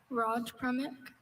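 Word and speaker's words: Rajpramukh: Raj Pramik.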